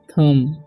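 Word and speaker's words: thumb: तो इसे पढ़ेंगे हम लोग थम, ओके, थम्ब नहीं पढ़ना है।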